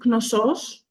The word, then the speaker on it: Knossos: as the Labyrinth that's my understanding yes it's noos nosus no okay yeah yes I said it